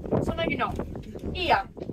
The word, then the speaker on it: Oia: I'm sure you know Oia, right? Yeah. Okay, it's time to know that. O and I in Greek pronounced like E. So now you know. Ia. Not Oia, okay? Ia.